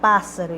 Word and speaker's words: pássaro: oxítona paroxítona ou proparoxítona E é claro que você vai descobrir a sílaba tônica né pássaro pa aqui tá fácil porque é proparoxítona e todas as proparoxítonas são acentuadas então a sílaba tônica estar na sílaba acentuada pássaro então é uma